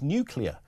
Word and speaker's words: nuclear: The word is nuclear, pronounced new and clear, as daylight. One you, not two, and please not you too.